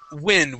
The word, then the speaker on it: wind: Now, this is a crazy one because it can also be wind. Okay. Uh, but right here we're we're talking about um wind. We're talking about the weather and things like that. So based on what we're we're reading about, that word would then be wind instead of wind calculations.